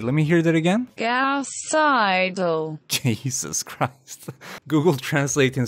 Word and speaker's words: Gauss-Seidel: word Google how do you say this word gauss-seidel wait let me hear that again gasp Seidel Jesus Christ Google Translate in slow motion sounds